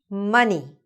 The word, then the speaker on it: money: Money. Another very popular word, right? Money. So money in English, even though it's spelled with an O, sounds exactly like bunny. which is with a U.